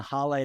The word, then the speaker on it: Haleh: we got on a h today h would you please give yourself an introduction I am H it's pronounced like Hallelujah I'm a Two Times